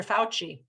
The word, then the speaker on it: Fauci: but we have three different spellings of it, the U, the O, and the OO, and look at Dr. Fauci. He's a brown cow word, brown cow.